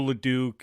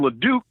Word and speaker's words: LeDuc: You're rubbing off on me, Mike, because I always called him LeDuc. And then I heard you call him LeDuc, and I go, well, dang, maybe I've been saying it wrong all these years.